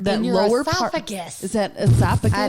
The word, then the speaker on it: esophagus: I think you're both saying it wrong now. It's esophagus.